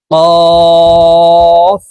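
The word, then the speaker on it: ك: হা এর মাঝের রূপ কা কাফ হরফ জিহ্বার গোড়া থেকে একটু আগে বাড়াইয়া তার বরাবর উপরের তালের সঙ্গে লাগাইয়া উচ্চারণ করব কাফ কাফের প্রথম রূপ কাফের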